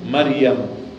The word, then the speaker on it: مريم: Então Maria, pronunciando em árabe, se diz que dizemos Maryam, Maryam.